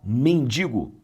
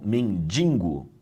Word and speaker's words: mendigo: Mendigo e não mendingo, tá bom?